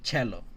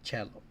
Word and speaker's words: cello: l o cell but it's an Italian word and the Italian word c is CH so they say cello that's why in English